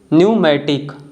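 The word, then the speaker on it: pneumatic: इसका correct pronunciation है receipt. Fourth one है टोमेन। फिफ्थ वन है न्यूमोनिया और लास्ट वन है न्यूमेटिक।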